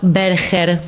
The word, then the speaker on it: Berger: este caso de John Berger, porque a mí no me gusta decirle Berger. Es francés, por eso tiene esa pronunciación. Yo le digo Berger, que es como se escribe.